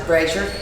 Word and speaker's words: Brasher: My name is Brasher. I just married it. It doesn't exactly spell out and make it sound that way, but that's how you pronounce it, Brasher.